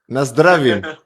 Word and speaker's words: Na zdraví: Na zdravím.